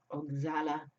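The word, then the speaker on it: Oxalá: Oshala, how do they pronounce it in Portuguese? Oxala.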